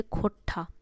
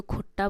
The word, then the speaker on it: खोरठा: भाषा मानते हुए इसे खोरठा खोरठा खोरठा भाषा की संज्ञा देते हैं मतलब कुछ लोग जो इसको सही से उच्चारण नहीं कर पाते तो खट्टा बोलते हैं खोटा बोलते हैं वहीं कार्यक्रम में अगर